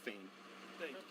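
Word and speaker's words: Phayme: P H A Y M E, pronounced Fame.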